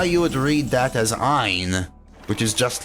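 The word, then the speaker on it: għajn: Now, if you type in G-H-A-J-N, now you would read that as Ein, which is just like the silent letter Ein that you're adding to the beginning of Ein to make it sound like Ein.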